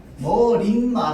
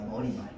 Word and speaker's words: 머리말: 머린 말 아니에요. 머린 말 아니고요. 머리 말입니다. 머리말.